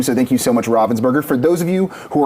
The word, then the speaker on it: Ravensburger: Bonsai often just says Ravenburger or Robinburger. I'm pretty sure it's Ravensburger.